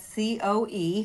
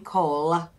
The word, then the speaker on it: Coe: Fred Co, he is my mentor and we spell that CO E because so many people think I'm saying Cole. I'm not. It's coe.